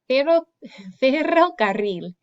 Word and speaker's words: ferrocarril: So ferrocarril. Ferrocarril. Carril. Okay, try that one. Okay, ferrocarril. This is a kind of a tongue twister for me to roll your R's twice.